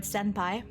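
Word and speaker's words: 先輩: The same thing with like the word senpai. It's not sen with an N pi. It is sem with an M pi.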